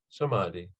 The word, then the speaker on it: Samadhi: Sometimes the M is pronounced like an N. Samadhi.